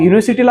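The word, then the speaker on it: university: सुरू झालेला आहे तर युनिव्हर्सिटीच जे प्रोनन्सिएशन आहे ते यमुना य यज्ञे य न सुरू झालेला आहे आणि तो स्वर नाही आहे ते व्यंजन आहे.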